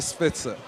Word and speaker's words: Spitzer: speaking to the soon to be Governor Mr Spitzer am I saying your name right you're saying